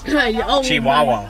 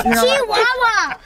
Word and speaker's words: Chihuahua: Chihuahua. Shit. It's Chihuahua. You said it wrong.